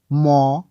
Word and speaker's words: মৃ: হলো একটি স্বরচিহ্ন যার রূপ হলো এইরকম লাঙ্গলের মত দেখতে আর এর জন্ম হলো ঋ আশা করি বুঝতে পেরেছেন এবারে চলুন আমরা কিছু ব্যঞ্জন বর্ণ লিখে নিই যেকোনো যেমন আমি লিখছি ক ম দ প গ ত ব ন এবং দন্তস